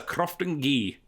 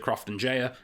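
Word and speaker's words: Croftengea: This is a Crofton Ghee, which is apparently how you're supposed to pronounce it. So that's what Tommy Boyd taught me. I've always pronounced it Crofton Jaya, and apparently I'm wrong.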